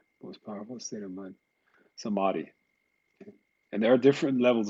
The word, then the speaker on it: samadhi: How do you spell that? Samadhi. It's samadhi, yes.